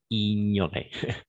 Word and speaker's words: ignorer: Une seule petite remarque ici est ignorer, parce que la combinaison de consonnes G plus N, on va prononcer comme un N, comme magnifique, consigne, en ligne. Ok, ignorer.